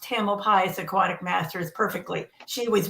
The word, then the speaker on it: Tamalpais: And I just want to say to Dee, you pronounced Tamalpais Aquatic Masters perfectly.